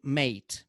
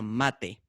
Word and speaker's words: mate: we call it a mate and you know in english you write a stress on the final e so that we don't pronounce it mate but it's a mate and people like malu